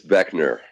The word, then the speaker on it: Boeckner: doesn't look like there's no reason for anyone to assume the right pronunciation of that last name there a trick o hi I'm Dan Beckner of operators and you're